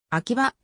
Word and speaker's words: 秋葉: をアキバの原あきは腹と呼んだアキバはした街鉛で本来の秋葉大権現では秋はと読む沈下者はいつ